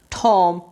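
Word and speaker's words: tomb: silent समझ आ गई बी अगर एम के बाद आ जाए और बी पर वर्ड खत्म हो जाए तो बी साइलेंट हो जाएगा देखि जी एग्जांपल देखें टॉम यहां पर बी आ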